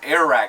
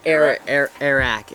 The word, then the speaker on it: Airrack: So Airrack is how you pronounce it, right? Airrack.